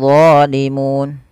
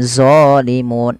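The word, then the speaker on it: ظالمون: Kemudian zalimun, hati-hati jangan dibaca dengan zalimun. Ini sering terjadi, mengganti lo dengan zo. Nggak ada sebenarnya, harusnya lo. Bagaimana lidahnya? Lidahnya untuk menyempurnakan, dia mirip dengan zal, tapi pangkal lidahnya terangkat, dan dia punya sifat namanya idbaq, melekat ke langit-langit lidah kita. Lo. Maka zalimun. Ya.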